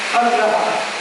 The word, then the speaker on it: agraha: Then agraha, short a, failure to accept.